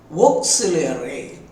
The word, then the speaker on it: auxiliary: அதனுடைய உச்சரிப்பை தெரிந்து கொள்ளுங்கள். ஓ, சில், ஈ, ஏர், ஏ, 5 சிலபிள்ஸ். ஆக்ஸிலரி, ஆக்ஸிலரி.